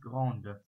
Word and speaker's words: grande: weiblich Mehrzahl, dann heißt es dann Grande. Wenn es bei den männlichen Formen heißt es Grand und bei den weiblichen heißt es Grande. Spricht man so aus.